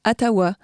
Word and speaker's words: Ottawa: Et maintenant, si on revient aux origines, Otawa se prononce Atawa.